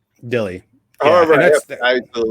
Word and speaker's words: Dille: Is it Dill or Dilly? Because I very good question. Thank you, Hyper Casey. Yes, name is Dille. Dille.